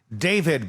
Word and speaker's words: D4vd: David, by the way, is how you say it.